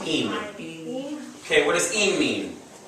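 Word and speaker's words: עם: We have the letter I. Then we have a mem sofit, which makes im.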